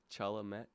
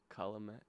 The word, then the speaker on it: Chalamet: Chalamet, Chalamet, Chalamet if you're Jewish.